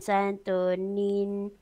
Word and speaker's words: Santo Niño: So again, Santo Niño. Santo Niño. Yeah, so the pronunciation for that is just like as in Santo Niño.